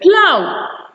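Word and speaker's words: plough: Most words that actually have that spelling symbols in them are actually pronounced in that manner or pronounced with the ow sound. Okay, we have the word plow.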